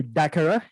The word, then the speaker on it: DACARA: But today I have here DACARA.